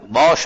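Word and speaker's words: Bosch: अब आप जरा यहां देखो, एस तो साइलेंट रहेगा, ये बोलेगा तो इसका प्रोनाउंसिएशन क्या हो जाएगा? बॉश हो जाएगा, बॉश। ठीक है।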